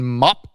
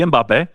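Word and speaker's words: Mbappé: Killian Mop. Supposed to be Mbappe.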